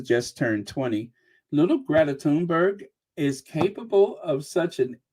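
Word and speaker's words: Thunberg: here happy birthday Greta turnberg now I've been saying it wrong like a lot of people is tunberg Happy Birthday Greta tunberg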